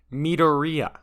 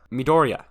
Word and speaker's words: Midoriya: name the series stars izuku midoriya midoriya midoriya that's how you say it i think i think that's how you say it i think japanese names are hard i'm going to